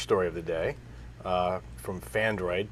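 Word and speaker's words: Phandroid: Okay, so the first story of the day from Fandroid, P-H-A-N-D-R-O-I-D, Fandroid, that's spelled that way.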